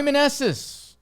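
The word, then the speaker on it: Meneses: rooting for you uh Joey manessis rhymes with Restless why not Goku um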